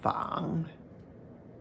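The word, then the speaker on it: 紡: Third tone, Fang, with the silk radical in front.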